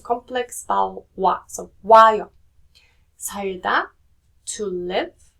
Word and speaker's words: 살다: When you're saying 살다 or 살, then that rear sounds more like an L sound, right? But if you're saying 살아요, it sounds more towards the R sound.